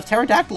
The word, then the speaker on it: pterodactyl: That's when I made that drawing of the pterodactyl I showed you, Nick. I on the Aerodactyl Pate the Taylor. See, that's so weird to read because the you wouldn't pronounce the P either way.